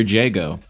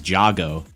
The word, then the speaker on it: Jago: the patient dude you're Jago which funnily enough he pronounces as jogo so we can tell